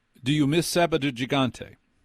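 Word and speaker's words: Sábado Gigante: Murray Kretschmer goes to South America, puts on Sabado Gigante. Would you pronounce it again cuz of course you pronounced it correctly and I did not. Say that again. Sabado Gigante.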